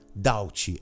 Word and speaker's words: doubt: A própria palavra doubt. Não é doubt. Doubt. É doubt. Você nem pronuncia o B.